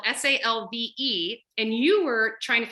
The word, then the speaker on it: salve: is save s-a-l-v-e um if if you're pronouncing it in ecclesiastical the classical pronunciation we saw away because all the v's turn into w's but i'll use salve because that's the more common what we're used to and ended up being